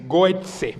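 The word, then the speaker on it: Gøtzsche: Hay un investigador danés muy prestigioso que se llama Peter Goetze, se escribe con diéresis la O, bueno, por cómo es el danés, Goetze, con Z, Goetze.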